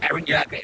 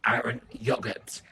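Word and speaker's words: Eren Yeager: Guys, to the anime community, apparently I've been mispronouncing Erin Yoga's name. So a few Yogurt. of you guys have told me it's not Erin Yoga, it's actually Aaron Yogurt.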